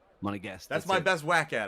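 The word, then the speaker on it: Monégasque: a guest it's so it's almost like your monaco plus guest plus against a guest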